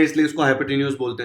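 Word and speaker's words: hypotenuse: बहुत लोग इसको हाइपोटेनियस बोलते हैं, इसका प्रोनाउंसिएशन जनरली हाइपोटेन्यूज होता है।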